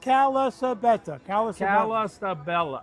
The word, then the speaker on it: Calasabetta: It's 5 syllables. Calasabetta.